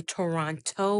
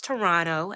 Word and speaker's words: Toronto: Just a disclaimer, you will hear me say Toronto with the hard toe at the end. Understand that I know instinctively that it's Toronto. That second T is silent, but charge it to the mind, not the heart.